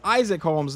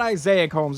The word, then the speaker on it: Isaac Holmes: That is Isaac Holmes, not Isaiah Holmes.